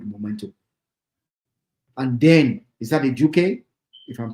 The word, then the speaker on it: Ejuke: And then, is that Ejuke? If I'm pronouncing his name right? Yeah, the guy who came in. Yeah, Ejuke.